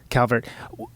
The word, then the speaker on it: Calvert: The Birthday Party, the drummer, the enigmatic Phill Calvert.